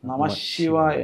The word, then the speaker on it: നമശ്ശിവായ: അപ്പോൊ ഓം നമശ്ശിവായ ജപിക്കുന്നതിൽ തെറ്റുണ്ടോ? അല്ലെങ്കിൽ എന്തെങ്കിലും ദോഷഫലങ്ങൾ ഉണ്ടോ? ഈ പഞ്ചാക്ഷരി മന്ത്രം പഞ്ചാക്ഷരി മന്ത്രത്തിന്റെ ഉച്ചാരണത്തിനകത്ത് ഒരു രഹസ്യമുണ്ട്. ഓക്കേ നമ കഴിഞ്ഞ് വരുന്ന ശി എന്ന് പറയുന്ന അക്ഷരത്തെ ഇരട്ടിപ്പിച്ചു വേണം ചൊല്ലാൻ. നമശിവായ അല്ല നമശിവായ ആണ് അത് ഇതിന്റെ മന്ത്രത്തിന്റെ ഒരു രഹസ്യമാണ്.